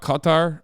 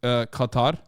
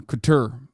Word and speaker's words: Qatar: my favorite things is like listening to everybody pronounce Qatar okay that's a new one Couture I I had not heard that one before